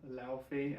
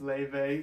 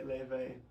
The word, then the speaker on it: Laufey: to say firstly I've been pronouncing um Levy's name wrong in all my other lessons it's I've been saying louthi as it's written and um so I just want to correct that it's Levy so this is a lesson for the witched